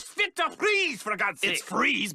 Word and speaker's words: Fries: to please forgot since fries but you spell it fries like french fries weird it's German it took me six years